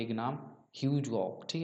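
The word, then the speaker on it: Hugh Gough: Battle of चिलने वाला, ये भी ज़्यादा इंपॉर्टेंट नहीं है, पर ध्यान रखिए यहाँ पे एक नाम ह्यूज गॉक, ठीक है, जिस तरह से आप प्रोनाउंस करना चाहिए।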